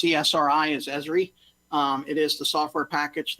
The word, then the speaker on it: ESRI: We actually pronounce ESRI as ESRI.